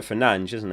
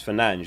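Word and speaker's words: Fernandes: Armstrong havit Bruno Fernandez it's it's pronounced Bruno Fernand isn't it I always call him Fernand is but it's fange isn't it that's the actual way you meant to pronounce his name all right we'll have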